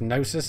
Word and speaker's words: Gnosis: It's pronounced Gnosis, is it? Then why the hell did they put G at the front of it?